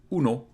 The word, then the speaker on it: う: because it's not as closed, so it's a bit more open. U, uno, but in Japanese it's U, U. I don't know if you can tell the difference. The Spanish U and the Japanese U, U, a, I, U, U, U.